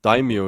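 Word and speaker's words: daimyo: how is it daimo daimo is the correct pronunciation in feudal Japan it is one of the great lords lords who were vessels of the Shogun.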